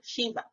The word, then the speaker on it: Sheba: or v a h it is pronounced shiva the root word is